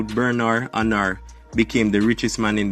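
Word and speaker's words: Bernard Arnault: i pronounce his name his name is a french name so this is the actual pronunciation of his name so who is bernard anna berna anna is a french billionaire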